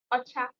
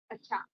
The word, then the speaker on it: Ocha: Ocha. That's the Igbo pronunciation. Ocha.